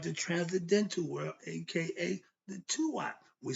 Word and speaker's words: Duat: So when you see D-U-A-T, it's pronounced Tua.